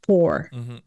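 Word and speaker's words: Poopor: don't remember exactly but his name was for p-o-o-p-o-r pronounced four so who were we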